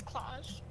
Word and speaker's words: Klaus: Is it claws or clouds? It's claws. But it's spelled Klaus.